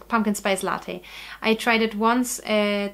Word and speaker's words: latte: So if you give me a cafe latte, for example, it's so, when I speak English I always want to say latte. But that's not how you pronounce it. It's latte, so it's Italian, cafe latte.